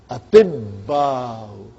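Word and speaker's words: أطباء: Because of these two we have a shadda. Sahi? So you will say atibba'u.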